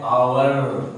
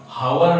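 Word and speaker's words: hour: जैसे क्या कहता है कि एच ओ यू आर, इसको हम लोग पढ़ते हैं आवर, हावर नहीं पढ़ते हैं।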